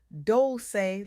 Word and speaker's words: Dolce: I'm your host, Dolce, pronounced doulce like sweet softness whispered in French.